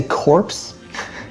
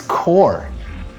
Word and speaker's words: Corps: Did you say corpse? It's core. That's how you pronounce it.